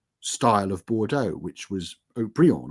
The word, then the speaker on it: Haut-Brion: You tried this new style of Bordeaux, which was Haut-Brion or O'Brien, or, they came up with all kinds of Oberon, sort of mispronunciations of it.